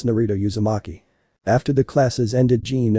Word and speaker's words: Naruto Yamaki: in Naruto's name I'm not sure how you pronounce this I'll give it a shot though he thought to himself narado yamaki Naruto raises his hand and begrudgingly said it's Naruto yamaki after the classes ended Jean and Naruto were